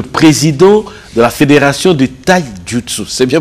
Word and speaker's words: Taijutsu: À côté d'Eric Kindambou, je rappelle, Eric Kindambou est le président de la fédération de Taijutsu. C'est bien prononcé? Très bien prononcé. Taijutsu.